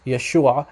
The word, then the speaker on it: Yeshua: in the hebrew so the western dialect of syriac the western aramaic dialect it's pronounced yeshua very similar actually identical to how it's pronounced in hebrew okay so what he